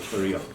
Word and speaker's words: pterion: So pterion, it's not pterion, okay? So P is silent, we call it pterion.